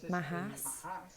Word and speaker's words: MHS: Ou seja, MHS, que se pronuncia Mahas.